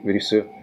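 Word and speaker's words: リス: I think you How to pronounce. I think you say risu.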